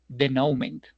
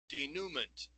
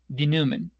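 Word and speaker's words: denouement: This is how we should pronounce a word because this word is not pronounced like denomment. This is not the correct pronunciation. Instead, if we click in the speaker denomment, we are going to listen the real pronunciation.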